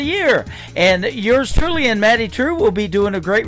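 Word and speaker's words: Maddye Trew: That is a brand new single from Maddie True. It is Maddye on her first name, and True is spelled Trew.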